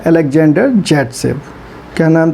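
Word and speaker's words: Zaitsev: उनका नाम था अलेक्जेंडर जैटसेव। क्या नाम था? अलेक्जेंडर जैटसेव। और इन्हीं को हम लोग क्या कहते हैं? इन्हीं को प्रोनाउंस करते हैं सेटजेफ।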